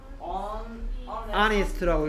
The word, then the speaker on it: honest: 근데 이 녀석은 어떻게 읽고? Honest라고 읽죠. Honest. Honest가 아니고 Honest라고요.